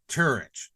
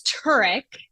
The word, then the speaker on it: Turich: is my last name it is turk it is Croatian yes it's Croatian but when we came it people like to of course as American say tourch right right right right